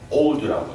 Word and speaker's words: oud: 네, 오드라고 제가 항상 말씀드리지만 오드라고 표현하죠. 오드라고도 하고 오드라고도 하고 우자는 약간 묵음 비슷하게 오드가 아랍어로 침향이다.